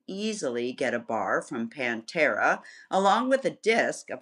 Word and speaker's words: Pantera: And also joining the conversation is Andreas Klie from Pantera, which is how they pronounce it. I know, I always say Panthera. I know, it was Pantera.